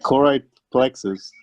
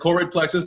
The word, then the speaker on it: choroid plexus: get for this and how do you pronounce it like chloride plexus okay so there's a couple s so I heard choroid plexus that was the answer I was looking for it for it